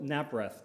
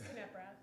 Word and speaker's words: Kaprath: So uh Alex Halpern and Naprath. Do I say your name right? No. No. Say it right. It's Kaprath. Can you do pronounce the K.